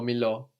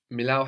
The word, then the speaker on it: μιλάω: Milao or milo. And the closed version? Milao has its accent on the end, so Μιλήσω.